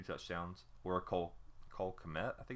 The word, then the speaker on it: Kmet: Or Cole Kmet, I think it's how you say it, maybe Cole Met, the K may be silent, at Notre Dame, 43 receptions, 515 yards, 12 an average, and 6 touchdowns.